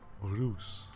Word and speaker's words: Reus: uh a little contentious the pronunciation is loose no that's the giant word uh the Dutch word for giant now uh if you